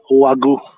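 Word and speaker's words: Wagyu: to a couple of text messages bad it's pronounced wagu oh wait hold on say it again gotta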